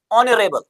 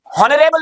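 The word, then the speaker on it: honourable: हो गया dash dash नरेल हॉनरेबल नहीं है एज साइलेंट एक बार फिर से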